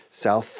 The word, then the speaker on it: South: South America, South. Fíjate en la pronunciación.